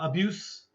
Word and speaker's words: abuse: And if abuse with the e, uh abuse is the noun with an e, abuse also is an e. Okay. So, be careful. Uh the verb and the noun are the same spelling but different pronunciation.